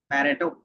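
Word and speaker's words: Pareto: Then एक होता है पैट्रियो चार्ट, इसका मीनिंग क्या होगा, पैरेटो। प्रोनाउंसिएशन जिसका सही है वो अपने हिसाब से कर लेंगे। बताओ क्या होगा, सही क्या होगा वो बताओ। पैरेटो, पैरेटो चार्ट जो हमारे पास है वो क्या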